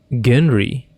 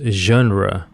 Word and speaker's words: genre: Wait, Genry? Is that how you say genre? I thought it is pronounced genre, not Genry.